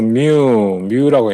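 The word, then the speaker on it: μ: 그다음에 요거 뮤라고 해요. 마이크로라고 읽지 말고 요거 뮤.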